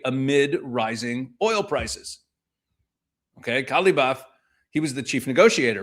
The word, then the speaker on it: Ghalibaf: It's somewhere in between the pronunciation. Ghalibaf.